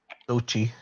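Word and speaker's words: Xochitl: The girl who played Tochi. America Chavez. What is it, Rick? Tochi. The TL is Sochi? silent. Yeah, the TL is silent. Yeah. Uh, yeah, Tochi I like her.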